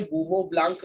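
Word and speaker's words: Bouveault-Blanc: Spelling बहुत खतरनाक है, अगर तुम जानना चाहो, किसी को इम्प्रेस करना चाहो, वो ब्लांक, यहाँ एलटी आता है, रिडक्शन। बूवो ब्लांक रिडक्शन पढ़ते, पूरा एज इट इज मत पढ़ देना, ठीक है?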